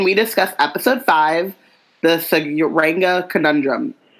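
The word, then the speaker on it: Tsuranga: discuss episode five the Sanga conundrum Sanga to agree with I'm assuming the tea is silent so am I so the Singa conundrum see you then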